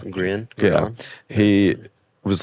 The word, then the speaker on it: Grian: Their front man is, how do you pronounce his name? Grian.